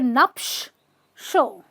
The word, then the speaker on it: nuptial: a note of this a lot of words ending with ial do not call them ill they're just oh uh so you have a nupsh show nuptial crucial not crucial crucial financial not financial okay so whenever you see